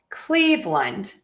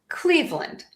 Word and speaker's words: Cleveland: Doesn't matter as long as you unstress that ending of the Lund. Okay? So, we have Cleveland and then Browns is one syllable.